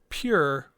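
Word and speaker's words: πῦρ: from the root word pure, which is spelled as por, pronounced pur, which literally means fire.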